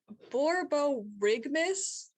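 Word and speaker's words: borborygmus: not how i thought that was gonna be pronounced okay borbo rigmas yeah borgabo rigmas borbo rigmas and this is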